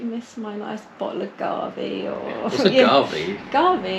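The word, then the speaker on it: Gavi: No, Garvey, I think it's pronounced. It's Italian.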